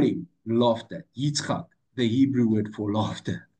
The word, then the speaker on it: Yitzchak: So the answer that came to Avram and Sarah on their laughing was, you'll have a son and you'll call him laughter, Yitzchak, the Hebrew word for laughter, a year later.